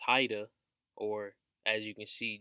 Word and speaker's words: Whydah: Kingdom so to speak which they called up wider pronounce Haida or as you can